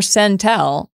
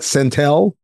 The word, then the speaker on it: Centel: People seem to like calling it Centel. Okay. I feel like it was made to rhyme with Central, so it would be Centel, but who am I?